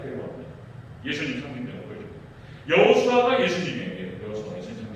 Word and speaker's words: 예수: 예수님 상징적으로 보여줍니다. 여호수아가 예수님이에요. 여호수아 예수님 상징이죠. 이름이 똑같아요. 여호수아. 구약에서 히브리어로 여호수아 이렇게 발음이 되고요. 헬라어로는 예수 이렇게 되는 거예요.